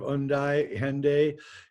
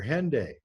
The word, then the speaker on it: Hendaye: What's interesting about the word Hendaye, though, is if you say it in British English, the H is silent at the beginning of the word.